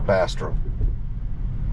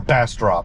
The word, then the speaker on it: Bastrop: of big plans for Bastrop or Bastrop I'm sorry going stop using my Southeast Texas Accent on how to pronounce Central Texas towns but uh yeah I